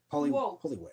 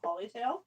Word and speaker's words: Poliwag: All right, Poliwag or Polytail, depending on who you ask. Poliwag. He had a different name? He does in the Poke Rap. They say his name wrong in the Poke Rap. Polytail?